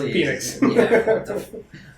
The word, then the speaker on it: Penix: yeah Jude BL blur all those he says Phoenix uh I would say two years two years